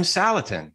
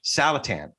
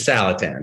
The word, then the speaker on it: Saletan: like the one we're having today with william salatin salatan wait salatan like callahan yeah taliban that's the other way